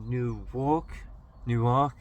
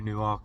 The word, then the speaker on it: Newark: We're in Newark, however you pronounce it.